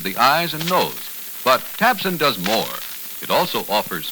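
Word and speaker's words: Tabcin: So now try Tabsin. That's spelled T-A-B-C-I-N.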